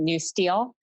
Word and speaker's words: NUSTL: urban security technology laboratory it's pronounced by its acronym new steel and we're DHS Science